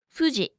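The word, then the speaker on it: ふ: It's not foo or hoo, but somewhere in between, who. who It's a sound unique to Japanese, so let's remember it with something unique to Japan. Mount Fuji.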